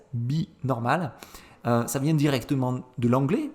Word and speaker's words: Be Normal: Alors je prononce à la française, Binormal.